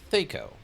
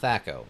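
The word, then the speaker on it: THAC0: So presumably thato and former TS employee Tim Kisk preferred the pronunci grub favored the pronouncing theo. So they prefer theo not thato.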